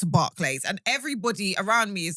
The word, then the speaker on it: Barclays: It's spelt Barclays. And everybody around me is like, it's Barclays. It's Barclays. Brother, it's an A.